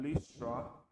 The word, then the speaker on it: Lystra: The Bible says, in Lystra, that's how you pronounce that word, in Lystra there sat a man who was lame.